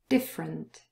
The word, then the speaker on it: different: All of those four words without the schwa pronunciation. Different.